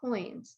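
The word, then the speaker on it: quoins: we have an archdoor we even have coins that's spelled q-u-o-i-n-s and those are those little blocks on the corners there those are called coins and they sort of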